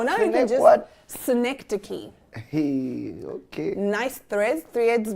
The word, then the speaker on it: synecdoche: Sanadosh. Joss. Synecdoche.